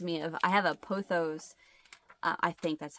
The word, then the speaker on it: pothos: The vines of it reminds me of, I have a pothos. I think that's how you pronounce it.